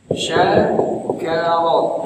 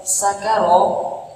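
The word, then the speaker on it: شكر: Syakaro yang artinya bersyukur. Kalau sakaro itu artinya mabuk.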